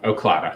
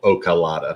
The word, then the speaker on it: Oclata: Oclata. Yes. Okay. Just so I don't butcher it, we get a lot of people that want to add a vowel. Ocalata. Mm-hmm. That's just Oclata.